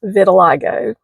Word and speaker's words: vitiligo: So, I have a skin condition and it took me a while to learn how to pronounce this name. It's vitiligo.